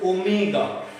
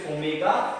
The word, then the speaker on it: omega: The pronunciation of this symbol is omega.